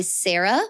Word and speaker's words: Cera: and runs CC Oddities by Sarah, which is spelled CERA.